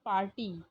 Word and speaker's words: party: R is silent here, party।